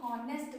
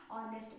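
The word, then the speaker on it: honest: और इसको बहुत से लोग हॉनेस्ट पढ़ लेते हैं, हॉनेस्ट बहुत गलत है। ठीक है, ऑनेस्ट पढ़ेंगे आप, एन ऑनेस्ट मैन, एन आर।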